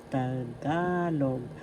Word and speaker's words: Tagalog: So today by this time you know how to pronounce tagalog. Tagalog first syllable ta second syllable ka. Third syllable log. The accent is in the second syllable ga.